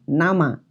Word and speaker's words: 生: apa jenggotnya seperti itu nah kata berikutnya adalah nama kata ini tidak perlu tambahan hiragana apapun baca nama sehingga kita harus melihat konteks kalimatnya tapi biasanya